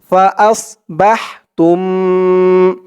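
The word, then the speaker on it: فأصبحتم: দিয়ে মিম ধরবে কুমুবিনামুলকুমনাকুম ফাস বাহতুম ফা আস হামজা দিয়ে সদ ধরবে আস বলা যাবে না আস বললে সিনের উচ্চারণ আসবে বলতে হবে আস ফাস বাহ বা দিয়ে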